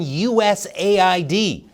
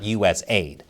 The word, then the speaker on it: USAID: The fate of the world is at stake, and it all hinges on USAID. Yes, I found out it's pronounced like that and not USAID.